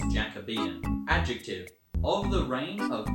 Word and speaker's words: Jacobean: word that i see jacobian i would i would pronounce that as jacobian but nope it's jacobean adjective of the reign